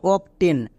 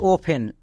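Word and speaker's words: often: একে অনেকে উচ্চারণ করে অবটেন বাট এখানে টি এর উচ্চারণ হবে না আমরা সবাই জানি এফ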